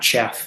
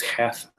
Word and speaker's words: Cheth: that uh you know it's not chaff right it's half has a value of